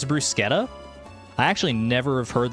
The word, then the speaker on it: bruschetta: So bruschetta is supposed to be pronounced with K for the ch because Italian and I hate how